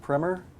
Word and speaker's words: primer: I believe maybe the primer? Yes. And I've heard primer. What do you prefer? Primer is the proper pronunciation.